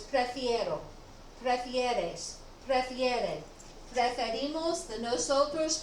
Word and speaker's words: prefiero: It makes it easier to pronounce instead of prefero, prefiero. It rolls a little bit better off your tongue.